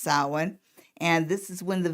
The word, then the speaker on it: Samhain: also the pagan festival of the dead called samhain and it's spelled sam hayne buzz pronounced samhain and this is when the veil is thinnest